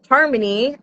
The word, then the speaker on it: HRMNY: So, Harmony, which is spelled HRMY, uh you can find it at hrmny.music.